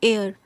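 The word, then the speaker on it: heir: आप इसको कैसे प्रोनाउंस करेंगे, एयर, AIR ऐसे प्रोनाउंस करेंगे, इसको हेयर नहीं पढ़ेंगे, एयर।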